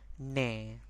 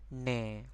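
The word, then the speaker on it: နင်: it's going to be ne. This is N, I, N. The N is a bit soft, right? You see, we don't pronounce, we don't stress on that, right? Just ne.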